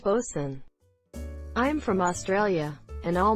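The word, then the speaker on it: boatswain: terms likely word is pronounced Lordan bosun is pronounced bosun I'm from Australia and all my life I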